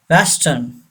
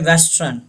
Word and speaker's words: Western: Western. Don't say western. Western Union. आपने अक्सर सुना होगा Western Union. लोग कहते हैं बैंक का नाम है. You say western. This R is silent. Western.